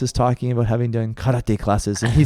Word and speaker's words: karate: and then it's sorry so RS in Japanese when you see them in the ragic Western spelling are pronounced as L's so for example it's not karate but karate ah yes of course